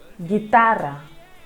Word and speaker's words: guitarra: Similarly, when G has UI after it, again the U over here is not pronounced and it gives us a sound G. Guitarra, guitarra.